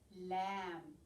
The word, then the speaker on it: lamb: have with love over the weekend we had lamb remember with a silent birth at the end